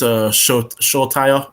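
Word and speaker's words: Solskjær: Another one I want to see is Solskjaer.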